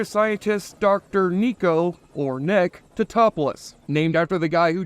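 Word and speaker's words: Tatopoulos: Nico Totopoulos. It's Totopoulos. How did Mrs. Tadopoulos handle that? It's Totopoulos.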